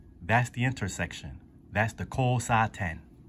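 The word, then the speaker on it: 交差点: So, this kanji here is called, or is pronounced, kousaten.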